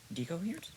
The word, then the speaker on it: decoherence: Decoherence? Decoherence. It's pronounced decoherence. Um, why is that important? Which is literally what the prefix D means. De. It, yeah, it's de. De, de, de. Like Spanish de.